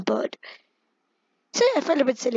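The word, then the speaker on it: Byrde: Like, if Maggie, maybe there's something about surname, and I checked and when seeing it's pronounced as bird.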